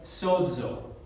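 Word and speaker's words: σῴζω: Y se pronuncia como la zeta, como DS. Como una combinación de D y S. Esta palabra se pronuncia sozo, y significa salvar.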